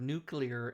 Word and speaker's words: nuclear: Right, and I tell people, I say, if you want to learn how to say the word nuclear correctly, just say 2 words. Say new, clear, just really fast.